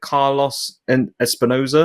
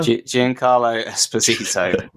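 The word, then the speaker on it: Giancarlo Esposito: to pronounce his name is it Carlos and Espinosa Jan Carlo espito okay there is you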